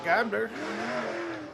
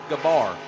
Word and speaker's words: Gabler: That's Danny Gabler. Well, Heavy D, I actually spoke with Denny down there a little bit ago, and his last name is pronounced Gabar.